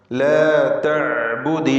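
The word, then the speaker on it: لا تعبد: ലാ തഅ്ബുദി ശൈത്താൻ. ലാ തഅ്ബുദ്, ആയിന് നേരത്തെ സൂചിപ്പിച്ചു, വ്യക്തമായി അതിൻ്റെ മഖ്റജിൽ നിന്ന് ഉച്ചരിക്കുക. ലാ തഅ്ബുദ് എന്ന ദാലിൻ്റെ സുക്കൂൻ ഇൽത്തിഖാഉ സാക്കിനൈൻ്റെ പരിഹാരമായി കസ്ർ നൽകിയിരിക്കുകയാണ്.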